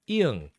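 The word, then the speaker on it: 이응: We've got iung. Iung actually has no sound. No sound. But it is affected by the vowel. So instead of actually taking its own sound, it takes the sound of the vowel.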